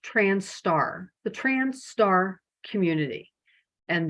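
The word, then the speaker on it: trans*: you'll sometimes see um the trans asterisk it's pronounced trans star the trans star community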